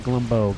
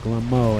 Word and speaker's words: Glo: a little bit but glbo has Glo not glbo Glo it's an m i can pronounce letters I swear being uh know just not